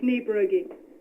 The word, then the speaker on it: Niebrugge: It's Niebrugge. Okay. It's spelled Niebrugge, I believe.